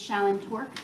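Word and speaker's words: Shallyn Torok: introduce yourself to the jury my name is Shon torque that's spelled s h a l l y n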